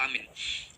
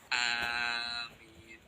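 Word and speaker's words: آمين: untuk syair maupun selainnya, yaitu memanjangkan alifnya dan tidak mentasydid mim. Berarti bacanya adalah amin. Yang bacaan kedua yaitu membaca pendek alifnya, yaitu amin.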